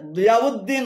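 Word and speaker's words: ضياء الدين: তবে দিয়াউদ্দিন উচ্চারণ সঠিক, কেননা দিয়াউন শব্দের শেষে হামজা রয়েছে, হামজা দাল পেশ উদ হবে। দিয়াউদ্দিন, এটি ঠিক আছে।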